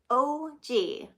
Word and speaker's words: Og: paper in one month I signed my piece Aug Aug after I'd written it I decided to be different and spell it phonetically OG it stuck that is